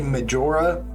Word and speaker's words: Majora: Ocarina of Time is mejora's mask it's actually Majora but growing up hispanic I just find it more comfortable pronouncing it that way so give me 50